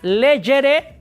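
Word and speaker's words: legere: escribe lejere leji lectum que se pronuncia leyere lei lectum la g suena como y como si fuera una y o una y digamos para darme entender ahora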